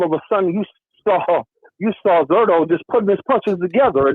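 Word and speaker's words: Zurdo: How do you pronounce his name? Zadoro or Zerdo? Zerdo.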